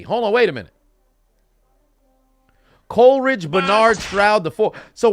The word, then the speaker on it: Coleridge: So CJ is Coleridge Bernard Stroud. I said Cloridge. Coleridge Bernard Stroud the 4th. So what the fuck is the J? Hold on, wait a minute. Coleridge Bernard Stroud the 4th.